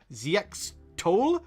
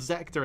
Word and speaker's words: Zxtole: There's one guy called Zector, and his name is written like ZX. Tole, like ZXTOLE, ZX Toll or whatever, but no, he's called Zector in the show.